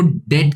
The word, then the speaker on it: debt: कानून ये कहता है कि अगर बिजनेस का कोई ऐसा डेट हुआ, तो याद रखना हम इसको डेट कहते हैं, DEBT, बी साइलेंट है, डेट कहते हैं।